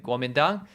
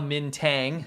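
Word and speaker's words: Kuomintang: You have the Gumenang. The Gumenang orqa Mintang as it's spelled in Wade Giles.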